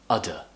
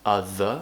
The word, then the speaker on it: other: will say it as udder and this always makes me laugh because obviously we pronounce it as other with the tongue between the teeth in native english but when you say